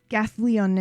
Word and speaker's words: Gathalion: Gathalion is, I think, how it would be pronounced.